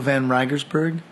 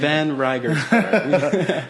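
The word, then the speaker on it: van Reigersberg: My name is van Riegersberg. I don't know how you pronounce that last name. Van Riegersberg.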